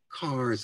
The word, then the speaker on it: Kerr: one example the poem carr's ass or kerr's ass we always pronounce it car as in cars pinks the potatoes we